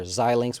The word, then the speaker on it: Xilinx: Like we would just say CLAC instead of KLA Tencor, or Xilinx, which is actually how you say it.